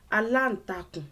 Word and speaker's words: aláǹtakùn: Aláǹtakùn, and this one has more syllables in it for practice purposes. Aláǹtakùn. There are 5 syllables in it. Aláǹtakùn.